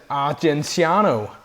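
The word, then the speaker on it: Argenziano: Um uh Carmon and how do you pronounce it? Areniano. Yeah. Yeah. Right. Yeah. Um Areniano.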